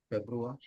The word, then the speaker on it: Februar: February. R is a very, very subtler sound. So we are not technically gonna be stressing on that R either way.